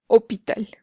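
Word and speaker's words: hôpital: por ejemplo acá y en francés hospital se pronuncia hopital y esa es jack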